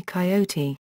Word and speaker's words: coyote: Coyote, Super Genius, from the Roadrunner cartoons, whose popularity has spread the three-syllable Spanish pronunciation of the word coyote throughout English-speaking North America.